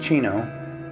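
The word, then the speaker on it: Xeno: It's actually pronounced Chino.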